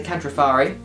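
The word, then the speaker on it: Kantrofarri: you so they their actual name is the catrifari i got that right yeah you pronounced it right as well uh what did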